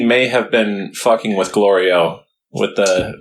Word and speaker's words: Glorio: Yeah, nice job, Glorio. Yeah. But then at the 20th episode, he says Minister Gliro, so he still mispronounced it there.